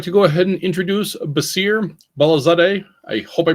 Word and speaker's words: Baseer Balazadeh: I would like to go ahead and introduce B balaz I hope I pronounce that correctly sir hey Charles yes you did it's B balaz that's correct fantastic baser is here to talk